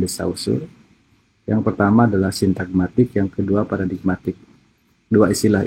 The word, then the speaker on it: sintagmatik: Sintagmatik dibacanya ya, sintagmatik, dan kemudian paradigmatik.